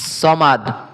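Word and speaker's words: الصمد: সামাদ বললে হবে না। সমাদ আল্লাহুস সামাদ।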